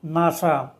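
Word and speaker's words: NASA: Space administration এর abbreviation নাসা এখানেও এন এস উচ্চারিত হবে না শব্দের ন্যায় উচ্চারিত হবে অর্থাৎ এখানে ন্যাটো হু এবং নাসা এগুলো হলো একক্রোনিয়াম যেগুলো শব্দের ন্যায় উচ্চারিত হবে।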